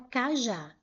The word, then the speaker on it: cajá: Se eu separar em sílabas, eu tenho ca, já. A última sílaba foi a sílaba mais forte.